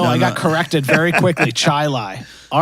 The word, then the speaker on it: Chili: now it's really it's spelled chili but it's pronounced chili that's one of the things with Rochester for